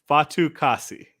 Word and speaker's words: Fatukasi: Fatukasi.